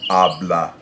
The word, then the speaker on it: habla: Habla. It also follows that first rule, where if you have a word that ends in a vowel, N, or S, the natural stress goes on the first syllable.